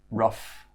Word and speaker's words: rough: Okay, so now let's look at the uff pronunciation. So uff, just like stuff, uff, and it's in words like enough, rough, tough, and slough.